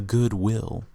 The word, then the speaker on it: Goodwill: is the good will i call it goodwill but people call it good will like the way they pronounce is different i say goodwill they say the good will like they treat it like two different words i treat it as one but then the super